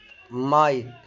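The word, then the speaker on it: might: الجي اتش تكتب ولا تنطق في منتصف ونهاية الكلمة، زي كلمة لايت، نايت، مايت.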